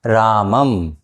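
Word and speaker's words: रामं: कहा जाता है, और अनुस्वार का उच्चारण व्यंजन वर्ण के म के समान होता है।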